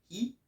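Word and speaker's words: 日: Du coup, voilà, c'est pareil, l'autre caractère, donc qui veut dire le soleil, se dit hi, hi, bon, hi, quoi.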